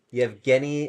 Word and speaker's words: Yevgeny: Oh yeah, it's Yevgeny.